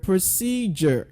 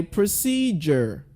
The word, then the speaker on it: procedure: To D can give the sound J as well. Like in the word procedure. Can you say procedure? So not procedure, you say procedure.